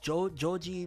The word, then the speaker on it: Joji: I think Japanese pronounced Joji, but I think in English you would say George.